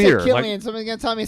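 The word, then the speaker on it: Cillian: K been K man every time I say his name it doesn't matter which version I say somebody tells me it's the other way it's Killian great next time I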